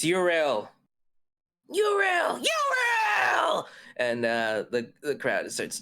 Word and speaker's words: Yrel: How do we pronounce this name? Yrel? It's Yrel.